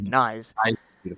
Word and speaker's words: Knies: I, And I I say knees, but I think the correct way is actually knives. okay, Someone's told me that it's knives without the V. So okay, all right, mm, Knies.